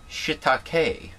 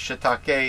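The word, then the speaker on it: shiitake: know Shish no it's shitake it's uh it's probably the Japanese way of pronouncing it but uh there's a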